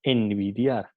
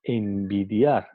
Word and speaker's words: envidiar: Entonces, al pronunciar envidiar, no pronunciamos el sonido N, no decimos envidiar, decimos envidiar.